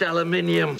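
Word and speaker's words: aluminium: aluminum for a while it's pronounced Ella minium shut up Leonard you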